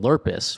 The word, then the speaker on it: Lerpiss: So Mike, very early on, he came up with I believe he came up with the last name Lurpus, which is spelled Lerpiss.